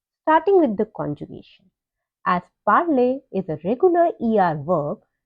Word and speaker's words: parle: of the stem to get PARLE, which is pronounced as parle.